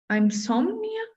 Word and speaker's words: insomnia: Usually when it starts in or im, it's im, like impossible, impermissible, insomnia. Usually if it's in or im, then it's going to be I instead of I.